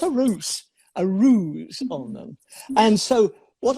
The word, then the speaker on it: Ruse: ruse now you know my name is ruse r u s e and i pronounce it ruse but there's an english word